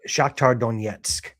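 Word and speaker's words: Shakhtar Donetsk: Shaktar Donetsk.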